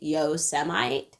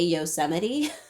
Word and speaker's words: Yosemite: a president currently who calls yosemite yosemite several times and not one of those times realizes he's supposed to say yosemite you know the bar